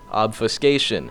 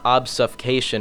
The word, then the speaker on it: obfuscation: on to obfuscation yes OB ation not OBS Suffocation as I hear a lot of people saying you idiot